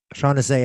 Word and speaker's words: Shaunes: So let's this is in the interview with Jaguar's mom, Shaunes, Shaunes, I believe is pronounced.